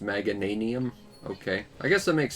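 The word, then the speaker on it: Meganium: quick get his picture oh it's pronounced magananium okay i guess that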